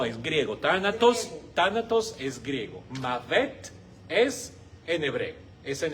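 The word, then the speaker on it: מוות: Se dice mavet.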